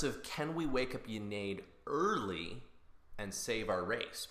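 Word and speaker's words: Ynnead: Anyway, the idea is the Eldar will be dead, but Yennead will rise up or Yennead as the Brits like to say it.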